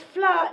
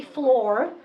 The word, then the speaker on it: Fleur: First of all, because Fleur, nobody can pronounce, okay? So the Americans call me Floor. The Israelis call me Feller.